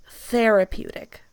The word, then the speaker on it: therapeutic: I don't know if you guys have the th sound the same, but it's therapeutic. therapeutic.